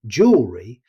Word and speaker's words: jewelry: Whether you see the American spelling jewelry or the British spelling jewelry, the pronunciation is very similar. Most native speakers say jewelry. Notice how quickly the middle syllable is spoken.